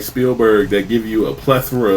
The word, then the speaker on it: Spielberg: No S between that, right?